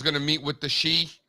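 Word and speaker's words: Xi: to meet with the she? Am I saying that right? Is it she Z? You are saying you are saying it right. Yes, she.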